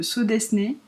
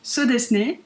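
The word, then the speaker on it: Sew Desu Ne: C'est un patron gratuit de So Desné.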